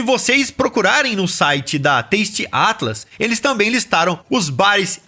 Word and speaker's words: Taste Atlas: moqueca e se vocês procurarem no site da Taste Atlas eles também listaram os bares e restaurantes que eles indicam tasty Atlas se escreve t a s t e a t l a s Taste Atlas ó eu quero chamar vocês agora